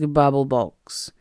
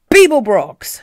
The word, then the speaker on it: Beeblebrox: You didn't complete your task, Babblebox. It's Beeblebrox, shouted the frustrated galactic president. You may not realize this, but every time you mispronounce my name, I feel bad.